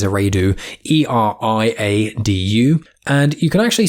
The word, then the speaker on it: Eriadu: He was born on the planet Eriadu. I may be pronouncing it wrong, I think it's Eriadu, E-R-I-A-D-U.